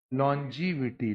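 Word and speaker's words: longevity: Pronunciation क्या बच्चों? लॉन्जीविटी, लॉन्जी, लॉन्जी हो गया जी।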